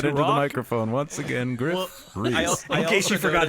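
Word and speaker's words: Gruff Rhys: My name is pronounced Griff Reese. I Art just want thou to say ready that to into the rock? microphone once again, Griff Reese.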